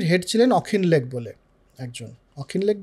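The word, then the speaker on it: Auchinleck: সেটা হচ্ছে সে সময় আর্মির হেড ছিলেন অখিনলেক বলে একজন, অখিনলেক বা অচিনলেক বা অকিনলেক, প্রোনাউন্সিয়েশন ভুল হতে পারে, আমার মনে হচ্ছে ওনার স্পেলিং থেকে অখিনলেক হবে।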